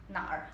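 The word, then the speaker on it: 哪儿: Por isso, ele vai colocar, ele vai falar nar, terceiro tom. É pergunta. Nar, ou nali. Tá? So, esse eu colocar embaixo para a gente olhar mais bem claro. Tá? Nar.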